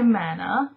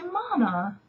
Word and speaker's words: mana: It's mana. Americans say mana, we say mana.